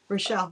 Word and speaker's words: Rochelle: We're a couple of days away from seeing Brian and Rochelle, right? Did I say it right? Rochelle, yeah.